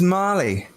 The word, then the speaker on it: Mahly: Her name is Molly. What? Mary? Molly. Marley? Molly. Molly? Yeah. his girl. It's spelled M-A-H.